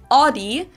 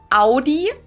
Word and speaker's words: Audi: Most Americans that I know pronounce it like I just said it, Audi. In German, we say Audi.